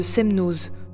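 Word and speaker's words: Semnoz: ah oui petite précision apparemment on prononce le Z de semnose souvent le Z à la fin des non propres savoyards ne se prononce pas mais je constate qu'il y a des exceptions je ne cherche plus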